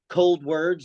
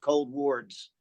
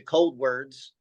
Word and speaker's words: Coldwards: the name um but there's uh it's actually pronounced cold words like cold words okay however you are slightly correct though because when we first name the band we did pronounce it cold Wards and then we decided as a band to